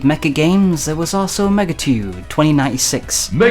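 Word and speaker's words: Megatudo: While we're on the subject of untransated Mecca games, there was also Megatude 2096. Megatude 2096. Yes, Megatude, not Megatudeo, like how it's spelled.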